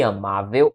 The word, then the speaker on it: amável: E aí amável, a sílaba tônica é a penúltima.